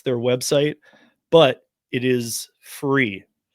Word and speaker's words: FURE: Yes it is spelled furcab. That's how that's their website. But it is free.